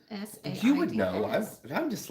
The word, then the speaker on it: NSAIDs: NSAIDs.